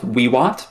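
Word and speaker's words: vivat: It would be pronounced Wiwat, by the way. Really? Yeah, well, all V's in Latin are pronounced as W's if you want to get technical.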